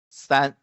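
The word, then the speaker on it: 三: means three right and the pronunciation is stan okay stan stan just like when you say the words suck okay the same s here okay and this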